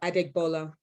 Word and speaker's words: Adegbola: uh how do you pronounce your last name phonetically just feel like i digbola yes i love it well i always make